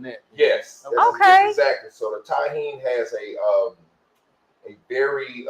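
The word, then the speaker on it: Tajín: Well, it's it's it's pronounced Taheen, but it's but it's T A J I.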